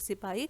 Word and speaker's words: सिपाही: तो जो ब्रिटिशर्स थे they could not pronounce it सिपाही, सो दे कॉल्ड इट सिपॉय।